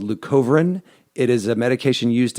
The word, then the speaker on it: leucovorin: So, leucovorin is a type of folic See, I even said it wrong.